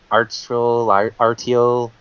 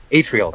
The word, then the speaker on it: Atryl: I actually, I'm not sure if I can pronounce this name right, but Artiel. I don't know what you mean. Let me just go ahead. ATRYL. Atrial? Atrial, thank you.